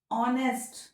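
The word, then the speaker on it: honest: ऑनेस्ट मैन, यहाँ क्या लगाएंगे? एन लगाएंगे. ओ का साउंड है, एच तो साइलेंट है.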